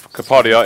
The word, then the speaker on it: Kapadia: It's Kapadia. It's a rant. Kapadia. It's Kapadia. I'm going to rant about your pronunciation of Kapadia.